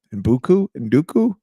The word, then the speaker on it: Njoku: Who I'm not going to even try to pronounce his name. Njoku?